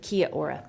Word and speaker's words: Kia ora: Kia Ora, is that what you Kia said? Ora, is that how you say it? Kia Ora.